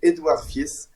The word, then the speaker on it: Edouard Fiess: And today we're going to talk with Edouard Fiess. I don't know if I pronounce in a good way your name.